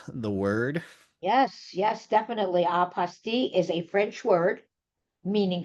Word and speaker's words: apostille: Apostille, which seems to be the official pronunciation, and then there's apostille, but guess what?